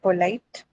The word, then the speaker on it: polite: O, like Light. yo. On light. On light. The reason being, see, we discussed this, right? If you have a diphthong Deathong. in a two-syllable Yeah, ma'am, word, this one. right? Then it has to shift to the second syllable, right?